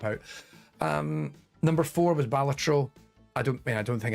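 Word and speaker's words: Balatro: um number four was ballat I don't I don't think I need to say much about batro everyone's gushed about batro it's really great but also critically it's pronounced batro um hell divers 2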